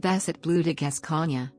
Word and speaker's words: Basset Bleu de Gascogne: blue to guess kanye the basset blue degas kanye french pronunciation also known as the